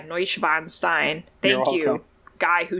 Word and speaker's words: Neuschwanstein: And I cannot pronounce this name at all, but I think it might be the Neuschwanstein. Cast. Oh yeah, Neuschwanstein.